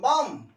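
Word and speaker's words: balm: English silent Elna हो silent L एल सेत्र उच्चारण करा हो ना caiman A एल एम S arms B ए एल एम बम सी ए एल M come P ए एल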